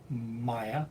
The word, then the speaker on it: mai: Maya. My. My. Ma. E. My. My. My. Right. It's like two syllables.